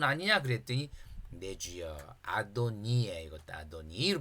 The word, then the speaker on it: 아도니: 그랬더니 내주여 아도니에 이것도 아도니를 발음해야 돼요.